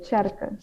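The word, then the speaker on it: tsjerke: These words now start with a K, but in Frisian you say tjerke, so they kind of maintain that ch sound at the beginning, and you write it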